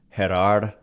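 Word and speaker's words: Gerar: So, yeah, and then I think that more than anything, or at least largely, Jerar, or most likely pronounced Jerar Encarnacion, surpassed Luciano by hitting well on the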